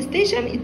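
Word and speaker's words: station: خلي بالك من النطق هنا، كلمة ستيشن تي اي او ان شن، ترين ستيشن.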